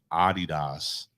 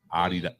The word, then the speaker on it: Adidas: I'm gonna say Adidas because people don't understand that that's really the right pronunciation. Adidas.